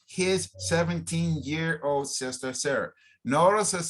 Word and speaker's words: Sarah: year old sister sarah sarah we don't say salah we're not saying sada we're saying sierra okay so try to pronounce the names correctly in the language they are it's not tomas we don't say tomas is thomas thomas we don't say sada it's sarah okay sarah so thomas is